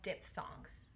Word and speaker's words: diphthong: It's like dip. Thong. Diphthong.